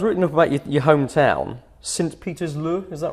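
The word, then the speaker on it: Sint-Pieters-Leeuw: I was reading up about your hometown, Sint-Pietersloo, is that right? Sint-Pietersloo. That's how you pronounce it.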